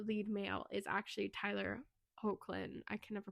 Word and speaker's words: Hoechlin: But the lead in this movie, the lead male, is actually Tyler Hoechlin. I can never pronounce.